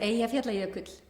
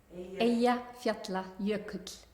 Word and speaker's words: Eyjafjallajökull: Eyjafjallajökull. Eyjafjallajökull.